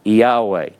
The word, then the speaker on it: Yahweh: up with the pronunciation, a lot of people will say, these are pronounced as vowels, so they go I-A-U-A, I-A-U-A, Yahweh. That's how we get the name Yahweh, okay?